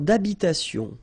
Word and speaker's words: d'habitation: Une tour d'habitation. Remember, H doesn't exist in French, well, in most of the cases, so it does mean that you don't pronounce it, all right? So, d'habitation.